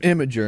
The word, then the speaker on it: Imgur: Or It's actually pronounced Imager, and it's according to him, but it's spelled IMGUR.